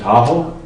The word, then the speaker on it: Tahoe: people heard it, Da'auaga, Tahoe? Tahoe rhymes with Washoe, and that's kind of how it got started.